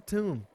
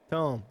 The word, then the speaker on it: tome: Now all I need is the tomb. Tome. I said tome. I just said it wrong.